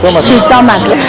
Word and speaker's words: jitomate: ¿Cómo es que se pronuncia? ¿Jitomate? Jitomate, que es una de las grandes aportaciones de México al mundo, el jitomate.